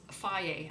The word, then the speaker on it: Fage: One example is this Faye. I know it says Fage, but it says it's pronounced Faye.